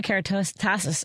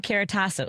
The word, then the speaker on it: Keratasos: Susanna Keratasus. Oh no, Susanna, I've said your name wrong already. I should have practiced it more. Uh, I practiced it before. Susanna Keratasos. Is that right, Susanna?